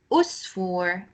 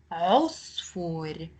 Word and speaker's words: عصفور: Now, there is a common mistake that other students make when they pronounce the ain sound in a word. They make it more like an a sound, the alif sound. So it's not usfur, usfur, or inab, or ain. It's عصفور, عنب, عين.